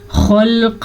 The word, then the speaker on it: خلق: ہے، فی یا مدہ، خلق السماوات، خوا کو ہم پر پڑھیں گے کیونکہ خا، قاف، زواد، صاد، طا، ضا، یہ وہ حروف ہیں جو ہمیشہ ہی پر پڑھے جاتے ہیں، ان